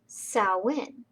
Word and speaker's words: Samhain: it saoin it looks like samhain but it's pronounced saoin and the tradition of halloween started in ireland thousands and thousands of years ago and we'll talk a little bit about that later but sauwin is still celebrated today and before it was